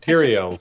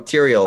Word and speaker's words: Tyrael: know will pay you're on the charger Oh Tyrion's Oh Tyrael okay so I say it wrong that's why